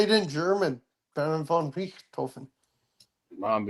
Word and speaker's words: Richthofen: Baron von Richthofen.